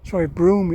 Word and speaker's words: Brough: each one, to Pendragon, Brough, Broome it's pronounced, so I'm told by the locals.